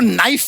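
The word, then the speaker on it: knife: ले जाए जी आपको नाइफ वर्ड मालूम है नाइफ उसमें शुरुआत में जो के होता है वो क्या है साइलेंट आप भी रहिए।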